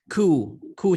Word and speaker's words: coup: coup تلفظ البي سايلنت coup ديتا يعني coup معناها انقلاب.